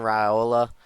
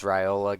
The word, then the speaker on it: Raiola: Dylan Raiola.